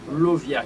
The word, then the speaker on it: Lauviah: Nous comptons pour le 17e génie qui c'est Lovia, qui s'écrit L-A-U-V-I-A-H.